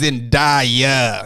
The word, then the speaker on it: Zendaya: He goes, oh, it's Zendaya.